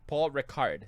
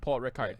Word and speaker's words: Paul Ricard: It's Paul Ricard, Circuit Paul Ricard.